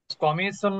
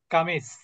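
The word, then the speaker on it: قميص: কি চেয়ার নাজমুন মানে হচ্ছে তারকা স্টার কমিসুন মানে হচ্ছে জামা যেমন আমরা অনেকে মহিলারা বলেন যে কামিজ আসলে শব্দটা কি কমিস কামিজ কোন শব্দ নাই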